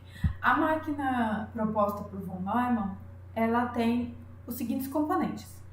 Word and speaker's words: Neumann: Escreve Neumann, mas a pronúncia é Neumann.